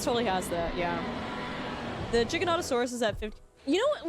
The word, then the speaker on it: Giganotosaurus: The Giganotosaurus is at 50. You know what really upset me? For the longest time I said Giganotosaurus. And it's not. It's Jig. It's like GIF. It's Giganotosaurus, and I was like,